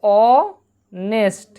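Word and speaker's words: honest: তার পরিবর্তে কি হচ্ছে অনেস্ট, অ, অর্থাৎ হচ্ছে অনেস্ট, একটা দন্তে এসো, ঠিক আছে, তোমরা বুঝে নেবে একটু।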